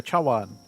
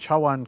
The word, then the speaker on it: Chawan: I just realized I butchered that. Chara it when it's spelled in English I don't think to read it in Chinese or like in a Chinese way. T- bowl cha is tea obviously and w is bowl ch.